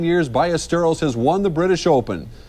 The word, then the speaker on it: Ballesteros: Sevi Ballesteros, pronounce again. it. Double L. Ballesteros. You got to roll that R, Dave. Very good. There you go. And he was a big name again today. Sevi Ballesteros of Spain loves to